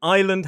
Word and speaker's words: island: It's the reason that island has a silent s and receipt has a silent p.